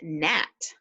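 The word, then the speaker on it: gnat: talk about the word net net was a very interesting word because it had a silent G in the front of it and that's what I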